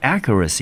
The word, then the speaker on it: accuracy: 们就念成 accuracy。Accuracy，好，那 accuracy 呢？